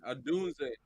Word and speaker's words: Odunze: How you pronounce his name? Odunze.